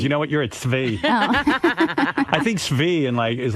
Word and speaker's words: Tzvi: T-Z-V-I?